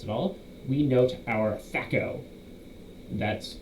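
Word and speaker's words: THAC0: adjust ours that's at all we note our Sacco that's how the this thac is t-h-a-c-0 is pronounced facco this number is added to any ranged or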